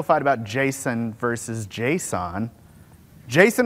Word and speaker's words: JSON: Jason or JSON? Jason, it's Jason. Who said JSON? The A is implied.